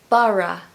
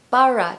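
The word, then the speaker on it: Borough: where to start with pronouncing this word so Bara Bara two syllables and Bara Market is absolutely amazing it's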